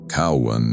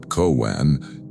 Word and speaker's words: Cowan: His exact tone, his inflection, even the way he'd always pronounced my name with emphasis on the first syllable. Cowan, not Coan.